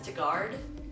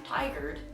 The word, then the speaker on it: Tigard: word and this word I pronounce them is to guard and us away go which is completely wrong it's actually tigard and oswego so that's another thing